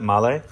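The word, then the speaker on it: Mahle: And then we have our male, which is actually the correct way to pronounce that, male.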